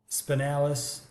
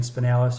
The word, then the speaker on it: spinalis: And then the spinalis, spinals, depending on how you pronounce it, they're most medial or they're nearest to the spine.